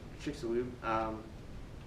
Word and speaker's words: Chicxulub: They also eventually found an impact crater in, let's see if I can say it right, Chicxulub, Mexico? Chicxulub. Yeah, Chicxulub.